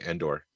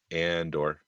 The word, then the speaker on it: Andor: the the the title Andor because it's so close to Endor and if you put the wrong inflection on it you're GNA say Endor yeah it's like a short a Endor Andor I know sound like